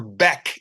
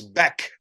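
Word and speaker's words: Bäck: Same with Oscar Beck, even though it's spelled back. Yes. It is Beck.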